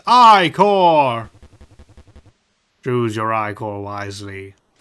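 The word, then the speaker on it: ichor: fill it with my magical eye core that's pronounced i core choose your eye core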